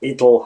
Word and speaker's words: it'll: contraction, it'll, is that the T sound becomes the flap T. It's something between T, D, and a little bit of R as well. It'll happen. It's not it'll happen, but it's it'll happen.